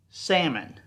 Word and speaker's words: salmon: ugly m-o-n is pronounced salmon the L is silent salmon but the disease